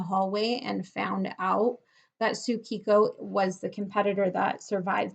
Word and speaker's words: Tsukiko: characters mean but that when you pronounce it in Japanese it is simply pronounced Tsukiko okay so this is